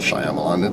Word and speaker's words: Shyamalan: m night shyamalan Allah I know it's not Shyamalan if you don't pronounce the why i'm hurt by m